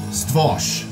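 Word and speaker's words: Stwór: Stworz is pronounced in Polish Stwosh or Stwosh.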